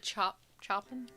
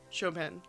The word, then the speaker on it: Chopin: A lot of chopping? Chopin. It's spelled Chopin, but...